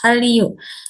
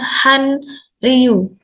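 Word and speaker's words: 한류: Jika ada bacim Nien bertemu dengan huruf real atau sebaliknya huruf real bertemu huruf Nien, maka nanti akan dilafalkannya menjadi R double ya, sehingga nanti bacanya menjadi L. Jadi ini Hallyu, bukan Hanryu, gitu ya, Hallyu.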